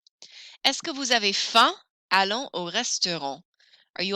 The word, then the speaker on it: faim: You don't pronounce the M in faim. Est-ce que vous avez faim?